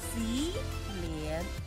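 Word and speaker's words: 洗脸: So when they combine together, wash your face. What? Si lian.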